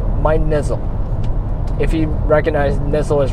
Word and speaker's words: Nizzle: of it is actually Nizzle. I'll put a pronunciation down there, wherever, down below, whatever. But if you want a reference, just think whistle.